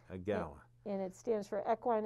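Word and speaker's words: EAGALA: The other organization is called EGALA, and it's an acronym for Equine Assisted. Yeah, spell it. So E-A-G-A-L-A. Okay, EGALA.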